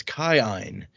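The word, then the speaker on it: Kiin: first character we've met with the double i which is pronounced according to the pronunciation key as i i so his name is caine well that's not confusing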